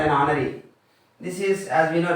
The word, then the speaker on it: honor: This is honor. This is also a vowel sound.